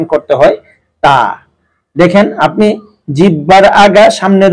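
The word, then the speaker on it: ت: লাগিয়ে উচ্চারণ করতে হয় তা। দেখেন, আপনি জিহ্বার আগা সামনের উপরের দুই দাঁতের গোড়া, উপরের দুই দাঁতের গোড়ার সঙ্গে জিহ্বার আগাটা লাগায় শুধু খুব স্বাভাবিকভাবে বের হয়ে আসবে তা তা।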